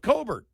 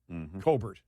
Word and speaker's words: Colbert: ignited the downfall of Colbert. Colbert. That's actually his name. Colbert he pronounces it Colbert Colbert, for the yeah.